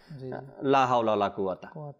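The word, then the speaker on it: لا حول ولا قوة: আমাকে উচ্চারণ করতে হবে হা এবং কফ এ দুইটা বিষয় একেবারে মানে সোজা পড়ার ইচ্ছা আমাদের লা হাওলা ওয়ালা কুয়াতা একবারে মানে কাফেরও কোন খবর কাফের জায়গায় কাফ আর হা এর জায়গায় হা একদম ইজি করে দিচ্ছি আমরা এভাবে যেন না করি একটু কষ্ট হলেও আমাদের সময় লাগবে ঠিক করতে তবে আমরা ঠিক করে নেই হা টা সুন্দর করে উচ্চারণ করি কফটাও সুন্দর করে উচ্চারণ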